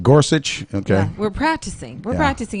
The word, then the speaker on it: Gorsuch: level and we you and I have trouble pronouncing his name you just want Mike to tell you how to pronoun it's Gorsuch Gorsuch okay we're practicing we're practicing it here but